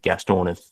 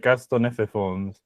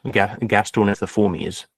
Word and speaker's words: Gastornithiformes: And then we have the Gastorniforms. Is that right? Yeah, I guess it is. Well, it depends if you're pronouncing that. There's another I, like Gastornithiforms. Yes, Gastornithiformes, I suppose.